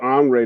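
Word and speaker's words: Henri: Well, Andre, that's the pronunciation of my um my birth name. Um and uh it's my actual birth name is spelled H E N R I. Um the H is silent.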